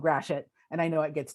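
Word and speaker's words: Gratiot: the street and by the way it's called grashit and i know it gets to get fixed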